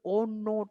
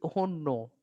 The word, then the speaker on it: ONNO: तो इट is called ओनो technique. ONNO इसको pronounce करेंगे तो इट विल बी ओनो.